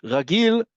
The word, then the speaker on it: רגיל: Ragil sounds like the word regular because it does mean regular or usual or normal.